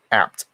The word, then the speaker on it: ABT: ABT is pronounced apt, as in Jack.